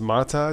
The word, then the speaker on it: MATE: Joe Collins says Mate is pronounced Mata.